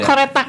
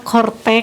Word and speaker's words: Coretax: koretak pajak ya tadi ada yang saya bacanya koretak Ya biar koretak ya biar nanti ada ada terdengar gitu Apa sih koretak itu dipajak itu oh kortex kortks bacanya Baik sahabat jusen untuk